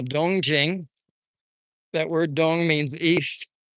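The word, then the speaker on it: 东京: In Japanese, they're pronounced to, kill, and in Chinese, they're pronounced dongjing. Dongjing, actually. Jing, rising. Jing.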